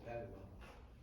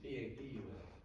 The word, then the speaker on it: Papua: Papua New Guinea, you said Padua. Did I say it wrong? Yeah, it's P-A-P-U-A, New Guinea, Papua.